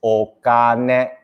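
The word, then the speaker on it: お金: So how do you pronounce money? Is okane, okane, money. Huh? Jing, all right? But you add an O in front, it's okane, money.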